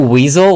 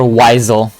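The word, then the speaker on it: Wisel: Yeah, like the word wise. Exactly. Wise L.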